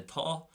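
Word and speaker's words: tá: Lastly, the T, if we use the verb to be, for example, we could say thaw. So normal thaw, T pronunciation.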